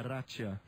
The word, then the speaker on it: Racea: Rom Helena Amélia Raia seguir a pronúncia do locutor de Glasgow, né? Então é Ratia, Helena Mélia Raia da